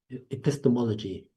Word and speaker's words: epistemology: Epistemology. Uh, pronounce it again.